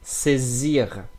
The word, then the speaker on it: saisir: When you have a vowel before the s, and after the s, we're gonna pronounce the s with like z. Saisir, saisir, saisir. I continue.